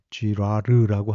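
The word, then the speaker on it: Girard: 또 프랑스의 조금 더 후대의 가톨릭 철학자 르네 지라르라고 하는 사람이 있는데요. 이 철학자는 발음을 잘해야 됩니다. 쥐라르라고 하는 철학자가 있는데 이 사람은 그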